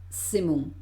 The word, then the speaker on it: semons: Imagínate, aquí digo nu sin la S, porque además la S final de palabra no se pronuncia, y es como aquí se metiera sonido Z, semon. Nous semons.